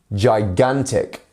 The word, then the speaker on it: gigantic: Mouse Mouse gigantic gigantic and our stress syllable here is the middle one here so again gigantic gigantic